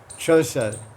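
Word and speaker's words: चौंसठ: Chosat.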